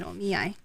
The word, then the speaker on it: omiai: I oh me I it's turned into an omiyai it's not a collab anymore it's an omiai yes it's the only eye oh man the